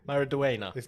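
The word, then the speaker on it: Maridueña: be a busy boy uh yolo maraduina mara dewena maraduena listen to his podcast so i know how to say it uh he is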